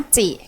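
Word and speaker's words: 町: สน ใจ ตัว เนี้ย มัน จะ ออก เสียง ว่า มจิ ที่ แปล ว่า เมือง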